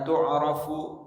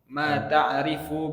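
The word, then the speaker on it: تعرف: Falladhi yata'ayyanu farduhu min ilmi tauhidi miqdaru ma tu'rafu bihi usul ad-dini wa huwa bacanya ma ta'rifu bihi usul ad-dini. Nah, itu maf'ul bihnya.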